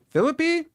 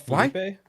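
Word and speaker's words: Phillippe: Now, this Ryan Phipe guy, how do you say his name? Philippe. Philippe. Oh, no. I don't want full cast. What else has he been in? It's not Philipe.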